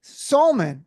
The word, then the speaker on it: Salmon: I knew him as Salmon, Salmon. Then it changed to Salmon because better called Saul. And it's spelled like Sam, and it's messed up all around.